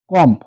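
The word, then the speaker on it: comb: না সি ও এমবি কম কম যদি আমরা বলি সেক্ষেত্রে আমরা কিন্তু এটা ভুল বলবো এটা উচ্চারণ হবে কম মানে চিরনি ডিভার্ট যদি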